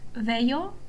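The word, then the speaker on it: Veio: um we are talking about I will be using the Italian pronunciation which um is the original one and I think it's the most authentic one. So we're talking about Veo, Tarquinia, Kum and Capwa.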